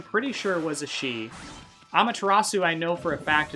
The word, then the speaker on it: Amaterasu: her by her name, Amaterasu. But I mispronounced it one time as Amateur Asu, so calling her an amateur. As a portonamo, I always say that word wrong, of amateur and Amaterasu.